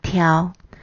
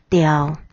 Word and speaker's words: 刁: 雕的台语念作挑，或念作雕。这两种念法针对有些特定词汇都可通用。